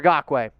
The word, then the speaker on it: Ngakoue: So if you're wondering why I'm saying it like that, it's because it's actually how you say it. So C for Crosby or N for Ngakoue.